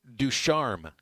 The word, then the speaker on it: Ducharme: Reed Ducharme.